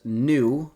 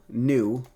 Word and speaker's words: nu: greek letter which is nu okay and this is spelled n n u new like like a new car but just n u not n e w um i guess it